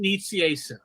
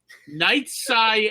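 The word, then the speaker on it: Nicieza: I have to know is it Fabian Knight Sai and I said Nita and he said and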